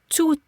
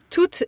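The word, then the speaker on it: tout: yes to yes so that final T although it is spelled t o u t T that final T is silent to to two Okay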